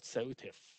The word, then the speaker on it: SOTIF: not at least the acronym is easy to pronounce it's called seltif selective safety of the internet functionality and the